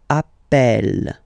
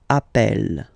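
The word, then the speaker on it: appelle: the pronunciation of uh you tend to pronounce it like e e really open that's the reason why you pronounce it Appel Appel okay Appel Appel Appel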